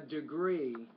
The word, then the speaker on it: degree: The stress is on the second syllable. A degree.